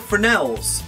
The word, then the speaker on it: fresnels: blue these are called fresnels the s is silent in case you've not noticed now these are smaller